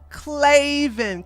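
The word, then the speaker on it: Klavan: the person on top claven is oh that's how you say it claven claven claven thank you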